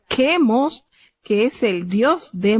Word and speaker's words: Quemos: Tenemos acá cómo se pronuncia Quemos, que es el dios de Moab, y cuyo dios también los israelitas se tornaron a adorar.